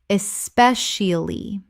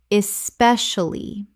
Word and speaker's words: especially: Common mispronunciation, especially. Correct pronunciation, especially. 4 syllables in natural speech, but the middle collapses considerably.